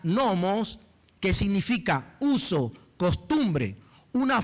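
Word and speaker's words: νόμος: Porque la palabra ley, esta palabra ley que dice que haya una ley, en el original se pronuncia nomos, que significa uso, costumbre, una fuerza o una influencia que me impulsa a hacer algo.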